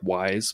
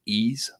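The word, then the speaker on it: Ys: nine it looks like it looks like wise but it's pronounced ease and that's a franchise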